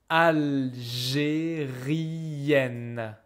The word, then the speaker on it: algérienne: Je suis algérienne. Je suis algérienne. Yen, yen. The pronunciation is different.